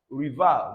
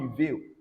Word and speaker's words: rival: That means both E and E here, or E and E, respectively. You refer to them as what, or pronounce them as A. So it's rival, not reveal, all right, as some people would think.